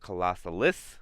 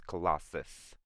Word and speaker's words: Colossus: I said that name wrong for a while. They call it Colossalis, but it's Colossus, not Colossalis.